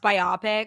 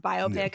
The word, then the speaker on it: biopic: Either way, they're going to do like a a I think it should be pronounced biopic, but it is pronounced biopic.